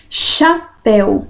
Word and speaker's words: chapéu: que existe um dígrafo chapéu o ch né só faz o som de um de uma letra como se fosse o som do X né que é o meu fonema xer então chapéu galho né